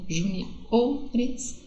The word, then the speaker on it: juniores: Quando elas vão para o plural, elas se transformam em paroxítonas, segunda sílaba forte, ó. Res, primeira, ou, segunda. Res, primeira, ou, segunda. Juniores, seniores, ok?